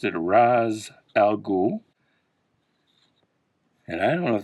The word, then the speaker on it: Ra's al Ghul: Here's a Ra's al Ghul or Raish al Ghul, however you want to pronounce it. I always just pronounced it a Ra's al Ghul.